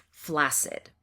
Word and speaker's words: flaccid: You see the two letters, the two C's together in the middle of the word, but those two C's are not pronounced KS, they're pronounced as an S, flaccid.